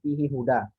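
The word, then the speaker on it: فيه هدى: Jangan sampai dua hak ini kan terulang ya, walaupun berbeda kata. Fihi huda. Jangan sampai fihi huda ini ya, karena dia sama-sama huruf tipis menjadikan salah satunya hilang.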